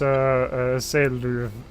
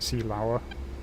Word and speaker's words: Seelöwe: I would guess it's something like Seelöwe or something like that. Yeah, it is Seluve. I was pronouncing it Seelauer, Oh well.